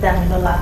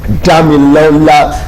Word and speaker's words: Damilola: I hope I pronounced that well. No. Okay. It's Damilola Adegboro.